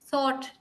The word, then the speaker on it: thought: next no no no you have to round your lips I told you telugus have a problem with this song okay thought t h o u